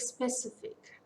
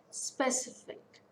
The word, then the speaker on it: specific: preceding the suffix example take specific specific so it's a three syllable word stress fall so on second syllable specific topical this is